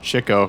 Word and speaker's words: Chico: Or no, it's pronounced Chico, because apparently he got all the chicks.